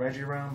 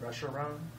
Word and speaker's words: Reshiram: is going to be Reshiram, however you want to say it. I used to call it Regiram, but then I found that was wrong, so I called it Reshiram.